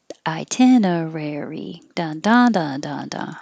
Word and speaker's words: itinerary: one i'm sorry itinerary itinerary its five syllables itinerary second one i i'm gonna put i 10 uh rari itinerary i rari i think the rarery might be um more difficult so keep your tongue curled back when you say rare hold it there re